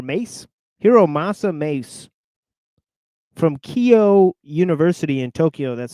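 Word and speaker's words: Keio: Hiro Masa Mace from Kio University in Tokyo. That's spelled K E I O. Kio University in Tokyo.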